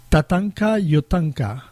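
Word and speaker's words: Tatanka Iyotake: Tatanka Yotanka. Yes, that's right. Did I pronounce it right?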